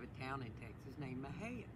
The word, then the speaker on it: Mexia: we have a town in texas named mahayan spelled m-e-x-i-a and some people come in and pronounce it mexia it was named after a